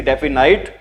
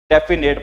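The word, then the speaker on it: definite: डेफिनाइट प्रंसिएशन के according. लेकिन इसको बोलते क्या है बच्चों? डेफिनेट बोलते हैं।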